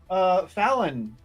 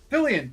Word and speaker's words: Fillion: Oh, speaking of Fallon. Wait, no. How do you say his last name? Fillion, thank you.